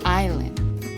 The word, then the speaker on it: isla: For I, we have isla, island, isla. In Spanish, we do pronounce the S in this case.